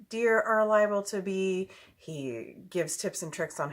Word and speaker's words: Hea: my little brother Joe his name is Joe He. His last name is just like mine. It's spelled H-E-A, so that's Joehea, and his channel name is Rod and Arrow.